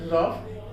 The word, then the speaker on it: rough: जहां कहीं भी किसी भी अंग्रेजी के वर्ड में आपको UGH मिलता है और उसके पहले O आए तो आप उसे साइलेंट कर लीजिए। जैसे कफ, COUGH कफ, ROUGH रफ, ये चीजों में देखिए वहां पर O साइलेंट रहेगा।